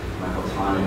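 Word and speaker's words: Michael Thonet: chair, which is the number 14 chair by Michael Tonnet. It's spelled like it should be pronounced that name, but it's Michael Tonnet.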